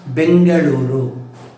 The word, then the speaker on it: Bengaluru: Earlier it was being pronounced and spelled as Bangalore. Now it is Bengaluru.